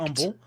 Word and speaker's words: Humble: So this, if you were visiting in Humble, because I think the H is silent, right? It is. Yeah, yes, so that's correct. Humble, so I don't want to piss off our Humble, viewers.